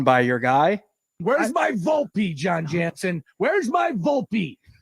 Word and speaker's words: Volpe: I mean come on um but what's funny is I know it's pronounced Volpe you know who wasn't pronouncing his last name Volpe no Susan and John I kept saying vulp uh you gotta you gotta love this Vault